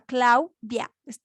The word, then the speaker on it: Claudia: Entonces, se dan cuenta, Claudia, conforman, tienen dos sílabas, no, no como pensamos, ¿no? Tal vez Claudia, no, eso estaría mal. silabeado es Claudia. Entonces es una palabra que está conformada por 2 sílabas.